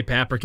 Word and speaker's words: paprika: a very long time i always just say paprika it's a rhyme with africa that's that's how i've